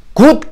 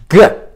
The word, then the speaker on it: good: 그래서 예를 들어 GOOT를 우리는 일반적으로 굿 그러는데 굿이 아니고 good.